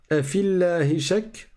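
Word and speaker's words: أفي الله شك: Ensuite, afillahi shak. Le ya ici, on ne le prononce pas du tout.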